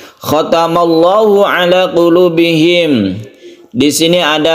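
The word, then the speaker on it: خَتَمَ اللَّهُ: Membacanya kalau sebelumnya fathah maka dibaca tebal atau tafkhim ya. Khatamallah, khatamallah, tafkhim. Ini lafaz Allah yang dibaca tafkhim.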